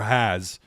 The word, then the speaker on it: Haas: Talking about Haas, the tight end, or Has. I think it's actually pronounced Has.